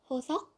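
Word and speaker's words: Hoseok: Next, we have Hosok. Hosok. Like I said, that sock sound has to be there. Hosok. Ho. Like you're a cheating hoe type of hoe. Ho. Sok.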